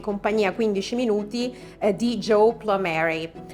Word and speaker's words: Plumeri: Saremo oggi in compagnia 15 minuti di Joe Plumeri, un nome che io l'ho pronunciato all'americana, ma è Plumeri, se così vogliamo dirlo, che tradisce un po' le sue origini italiane, addirittura dalla Sicilia, sì.